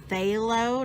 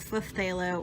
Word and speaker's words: phthalo: a phthalo blue and I know that that has a P at the beginning of it but it's actually pronounced halo not per se I'm not flip a low or puff a low it's just a low